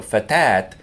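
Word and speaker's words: فتاة: And words that end in alif and then ta marbulta, the ta marbulta gets pronounced like it's a ta here. So fatat is a young woman,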